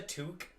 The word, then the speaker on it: toque: know that's that's a toque no that's a toque can you say a mile away you know it's a Canadian can you say toque to thank you but you're pronouncing Tu wrong no it's t I took